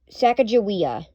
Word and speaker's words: Sacagawea: Sacagawea.